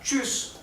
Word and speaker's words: tschüss: O sea, esto se pronuncia ch, ch, igual que una CH de nuestro idioma. Por lo tanto, la palabra tschüss se escribe TSCH, TSCH.